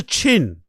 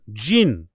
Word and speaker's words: Jhin: whatever it may be, is spelled Jhin. Jin. I guess that's pronounced Jin. That's actually his name. But nobody from where he grew up could pronounce it correctly. So they kept pronouncing it Chin.